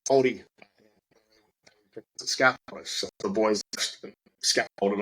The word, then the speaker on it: Māori: I went to school with a lot of Maori guys, and it's pronounced Māori.